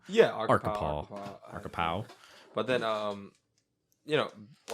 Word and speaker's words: Arkapaw: I said it wrong last episode. I Yeah. said Arkapaw. That's a Arca Jason. power. I would Yeah. have thought that's Arkapaw, Yeah. to be fair. Yeah, to be fair, It's spelled ARKAPAW.